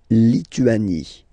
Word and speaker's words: Lituanie: La Lituanie. Remember in French, sorry, H doesn't exist, okay, so you don't pronounce it, and it's li, tu, a, ni, Lituanie. La Lituanie.